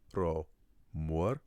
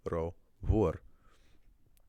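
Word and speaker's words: ro mhór: If I want to say something is too big, I'm not going to say it's ro mór. I'm going to say ro vor.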